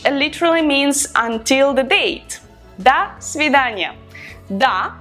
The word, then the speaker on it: до свидания: The formal way is до свидания, which literally means until the date. До свидания. Da, we write do, but we pronounce da because o in an unstressed position is pronounced as a.